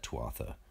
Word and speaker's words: Tuatha: four talismans of the Tua. Most people pronounce that Tuatha, just in case you're wondering what word I'm saying, as they related to